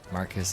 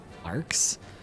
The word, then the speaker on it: Marcus: Marcus is indeed pronounced like Marcus. Okay. I got curious and wanted to know. Yeah, I the first time I played this game, I absolutely pronounced it as Marx. or something. But now reading it, I'm like, wouldn't it make more sense for it to be Marcus and sometimes we pronounce